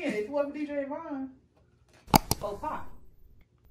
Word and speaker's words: faux pas: Faux pies. Okay. Faux pies? No. DJ, you said it right. Faux pas.